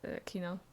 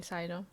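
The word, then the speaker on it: Cyno: I needed to text my friend because I keep forgetting that they're drawing the Kino, aka Sino. I'm calling him Kino because that's what I heard is most accurate pronunciation.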